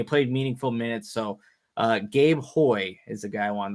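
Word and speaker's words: Houy: So Gabe Hoy is the guy I wanted to highlight here from Pitt. Hoy.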